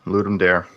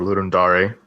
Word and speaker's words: Ludum Dare: Yep, yeah, Ludum Dare, or Ludum Dare, depending on how you want to pronounce it, but yeah.